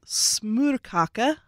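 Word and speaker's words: smørkage: Someone would always go to Larsen's and get a smorkage. Good pronunciation.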